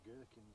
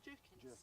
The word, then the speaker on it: jerkins: have like gherkins. Is it not gherkin? What's it called? Yeah, jerkins. Jerkins. It's spelt same.